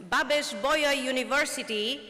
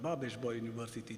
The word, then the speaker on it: Babeș-Bolyai: We gather under the roof of one of Romania's most storied institutions, Babeș-Bolyai University.